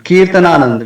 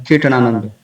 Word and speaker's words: Kirtanananda: Then Kirtananand becomes Kirtanananda. This is basically coming from English language.